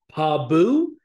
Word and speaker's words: Pabu: if I mispronounce this Pabu it's p-a-b-u it sounds like pal pal Boo but I don't know